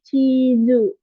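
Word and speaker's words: チーズ: ada teng-teng kayak gininya tetap dibaca zu ya, cuman beda di hurufnya aja. Ini chizu. Oke, ya.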